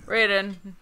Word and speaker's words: Raiden: Now we're gonna do Raiden. It's pronounced Raiden.